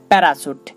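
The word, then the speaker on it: parachute: তেমনি করে বলা যাবে প্যারাসুট দেখুন এখানেও আমরা সি এইচ পাচ্ছি এবং তার আগে একটি স্বর তারপরে একটি স্বর তাই এখানে সি এইচ এর উচ্চারণটা তালবস এর মত হচ্ছে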